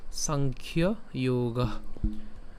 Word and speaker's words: সাংখ্য যোগ: হ্যাঁ, সংস্কৃত উচ্চারণ করলে কেমন? সাংখ্য যোগা।